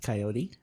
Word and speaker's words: coyote: Well, The English pronunciation is heard both as a 2-syllable word with the final E silent and as 3 syllables with the final E pronounced, with a tendency for